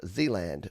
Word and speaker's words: Zealand: He says Michael, aka Zealand Band, pronounced Zealand, because for the first